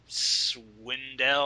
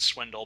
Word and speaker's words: Swindell: Who I want to call Swindle because he's on the other side but I'll respect Oh god. No. No. I will respectfully pronounce his name correctly.